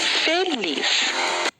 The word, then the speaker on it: feliz: Qual a sílaba tônica da palavra feliz? Então vamos no portão chamar a palavra feliz. Feliz é o lis, tá vendo?